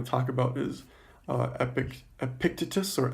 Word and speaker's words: Epictetus: person I'm going to talk about is epic Epictetus or epic Titus that is spelled epi CTE tus so a pic Titus